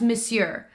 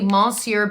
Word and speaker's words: Monsieur: fine I don't know why I know it's Monsieur Monsieur but I always when I look at it this way I always want to say Mahseer big I know that's how it's pronounced you